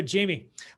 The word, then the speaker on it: Jaime: yourself please um okay well my name is jamie um you spell that j-a-i-m-e um not the traditional jmie my